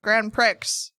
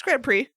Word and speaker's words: grand prix: playing mario kart and i was like grand prix they're like no like i see what i did there i read the word as it's spelled sort of but you're right i was wrong it's grand prix that's tough so let's